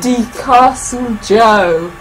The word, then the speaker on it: DeCastle Joe: DeCastle Joe. That's how you pronounce their name.